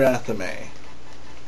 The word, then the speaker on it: athame: Anyways, and that would be your ritual dagger, also known as your athame, and that is how it is pronounced, athame.